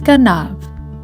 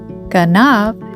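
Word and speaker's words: גנב: The second word that you see is ganav. It is the Hebrew word meaning a thief. Ganav is spelled with the following letters of Gimel, Nun, and Bet.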